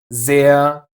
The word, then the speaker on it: sehr: So, it is reden, hören, and brauchen, but Wasser, sehr, and Flur. No r here.